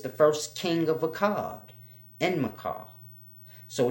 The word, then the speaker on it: Enmerkar: purpose or not, but it's spelled Enmerkar, but then they have like dashes and apostrophes in it, so this will throw you off in the pronunciation. But it's a simple name, Enmerkar. Enmerkar.